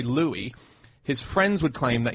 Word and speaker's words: Louis: him and someone asked how do you pronounce the name Louie or Lewis and they go they go into this whole reasoning where they say that he in songs used to say Lewis in interviews they would